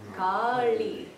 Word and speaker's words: Kali: So the name of Kali has this kind of L in it. Kali. Yeah. And the reason it's very nice to really nail those subtleties in the pronunciation, it's a small difference, it's just a small repositioning of the tongue.